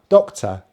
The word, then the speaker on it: doctor: My accent is a non-Rhotic accent, so I do not pronounce the letter R if it is not followed by a vowel sound. As there's nothing after this R, I do not pronounce this letter R.